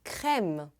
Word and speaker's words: crème: Cream, em francês, é crème. Como será que se escreve?